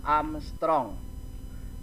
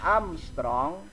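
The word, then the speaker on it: ångström: gelombang 7200 Armstrong Nah itu angka A yang diatasnya ada bulet itu bacanya adalah Armstrong satu Armstrong itu nilainya adalah satu kali 10 pangkat min 10 Hai sekali lagi itu bacaannya adalah Armstrong kemudian nilainya adalah satu-satu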